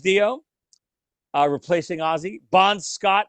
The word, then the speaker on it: Dio: so far number five Ronnie James Devo as you first pronounced Ronnie James Dio uh replacing Ozzy Bond